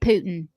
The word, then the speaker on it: Putin: You know, if if Vladimir Putin started singing, he'd sound American. Say it like the rest of us. Just say Putin. Why do you got to put the pew in there?